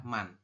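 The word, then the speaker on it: 만: Bintang ini dibacanya adalah man.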